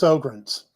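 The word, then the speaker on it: Sjögren's: That's spelled S-J-O-G-R-E-N, but it's pronounced Sjogren's. The J is unpronounced, ladies and gentlemen.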